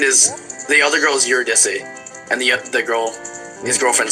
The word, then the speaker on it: Eurydice: Although I said Eurydice in front of some of my classicist friends, and I got yelled at by many of them because technically pronounced Eurydice.